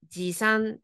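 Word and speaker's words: 持参: 주세요 할 때 지참입니다 참은 미나상 상으로 읽으시면 되고요 지참은 발음이 그렇죠 지산 좋습니다 자 넘어가서 마지막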